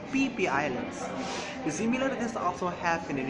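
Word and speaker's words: Phi Phi Islands: And if you ever heard about Phi Islands, it's not say Phi Islands, it's PP Islands.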